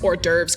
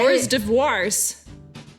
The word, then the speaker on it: hors d'oeuvres: Hors devoirs.